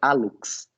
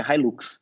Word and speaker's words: hallux: E repara, é hallux, não é Hilux, beleza?